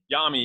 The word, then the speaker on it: Jami: I remember doing the MWOD, one of the videos with him, and Jamie Takanen, how do you say his name? Yami, Yami. Yeah, sorry, Yami.